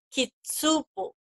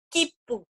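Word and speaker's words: きっぷ: Entonces no es kitsupo, sino que es kipu, como si pronunciáramos la doble P, kipu.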